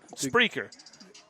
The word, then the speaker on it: Spreaker: How do you spell it? What are you talking about? Spreaker.